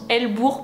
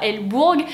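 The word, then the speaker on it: Hell-Bourg: village de el bour donc ça se prononce hell bourg pas l bourgue et ben vous allez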